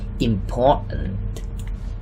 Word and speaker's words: important: When we read it fast, we will say important. The T sound here is silent.